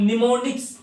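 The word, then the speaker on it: mnemonics: इन शांबल्स तो हम निमोनिक्स पड़ते हैं अब इसे हम निमोनिक्स बोलते हैं यहां पर मैं साइलेंट रहता है लेवल लैंग्वेज को कन्वर्ट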